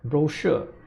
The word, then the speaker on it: brochure: this look before and they mispronounced it by saying something like don't rule right well when we should be pronouncing it as brochure now another example I